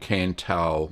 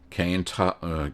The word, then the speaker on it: Cantal: I think it's called Cantal, or Cantal, C-A-N-T-A-L, Cantal.